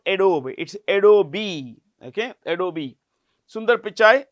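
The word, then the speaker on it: Adobe: Naran uh president of adob a o b e how do we pronounce it a d o b e the E is pronounced it's not adob it's adob okay adobi Sund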